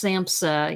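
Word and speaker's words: SAMHSA: them is uh samsa which is pronounced samsa even though it's s-a-m-s-h-a and i i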